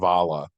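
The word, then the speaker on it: abhaile: Irish have this word Avala and it's spelled I believe a b h a i l e but it's pronounced aala and it means a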